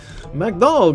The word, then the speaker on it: McDonald's: speaking countries but legitimately people from PTO Rico pronounce mcdonal like the way I've been joking pronouncing McDonald's is the way that they pronounce McDonald's in Puerto Rico McDonald McNugget get two